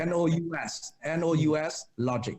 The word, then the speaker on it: NousLogic: And spell it. N-O-U-S, logic, NousLogic.